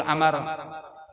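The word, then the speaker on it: عمرو: Amar itu tulisannya ada waw tapi wawunya kada dibaca.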